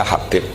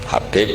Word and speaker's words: Habib: Itu di harokatnya kitab itu ada yang nulis Hubab. Yang benar, oh enggak, yang benar itu bacanya Habib. Habib itu As-Sulami, itu ikut marga Robi'ah.